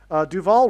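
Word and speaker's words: Duvall: Duval rhymes with Hall.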